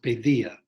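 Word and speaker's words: paideia: the word pedia p-a-i-d-e-i-a it was probably pronounced pedia the d had a th sound in in ancient times that's the ancient greek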